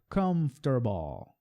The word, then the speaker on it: comfortable: Comfortable. É uma palavra de 3 sílabas.